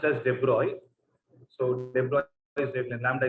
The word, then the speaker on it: de Broglie: Actually, it is pronounced as de Broglie.